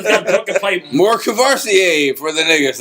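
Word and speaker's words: Courvoisier: More Cavassier for the niggas. Like, you can't do that. More what? How'd you say that again? Cavassier. He said Curvassier.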